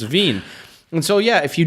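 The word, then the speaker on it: Wien: know I had many German students who would pronounce the e I and II's you know so so like like Veen which is German for Vienna and then vine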